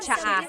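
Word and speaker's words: tsaa: that you drink, and it's spelled T-S-A-A. Ano ang license plate? Cha'a. That's such a Tagalog spelling. I love it. There's the T-S tire, and then the double vowel pronunciation.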